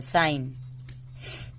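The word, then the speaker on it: sign: साइन, foreign, सब में एन के पहले जी है, एन के पहले जी है, तो इसका उच्चारण नहीं होगा।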